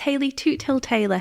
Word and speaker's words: Hayley Toothill-Taylor: can say my my full name so it's Haley toot till Taylor for anyone who wants to know how to pronounce it I got this great thing planned